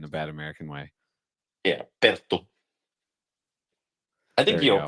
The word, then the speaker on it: Perttu: Yeah, Perto, I think your pronunciation is pretty good.